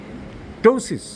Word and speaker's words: ptosis: উই ক্যান do miraculous টোসিস টোসিস বলে একটা রোগ আছে পি টি ও এস আই এস ইংরেজিতে পি এর উচ্চারণ হয় না টোসিস এই টোসিসে উপরের